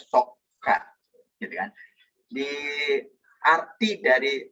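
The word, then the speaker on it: صكّ: Nah, arti kata sukuk sendiri itu berasal dari bahasa Arab sokka atau sod, kaf, dan kaf. Sehingga bacanya sokka.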